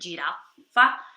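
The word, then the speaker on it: giraffa: la jirafa la jirafa tem dois FC ela é pronunciada um pouquinho mais cumpridas girafa com o Eloá aquele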